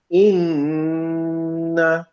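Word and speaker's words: إنّا: যেমন আমি যদি বলি ইন্না, দেখেন আমি কিন্তু শুধু ইন্না বলি নাই, নাকের মধ্যে নিয়ে আমি ওখানে একটা নাকের মধ্যে নেজাল সাউন্ড নিয়ে আসছি।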